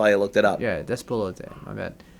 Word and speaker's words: Despelote: So let's go right to games for impact, which is Consume Me, Despolo. I don't know how to pronounce that. Lost Records, Bloom and Rage. Despelote.